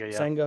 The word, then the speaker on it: Senga: Senga.